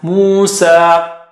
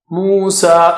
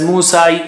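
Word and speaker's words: موسى: of Islam, alayhi salam, Musa. Musa, so we don't pronounce it as Musai, for example. Musa, the ya at the end has no sign, so it has no sound.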